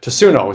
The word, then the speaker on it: Tatsuno: I should know how to pronounce that. Tatsuno.